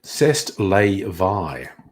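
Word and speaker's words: c'est la vie: say Allah thee or to pronounce it the way the French pronounce it CEST lay Vai they get very upset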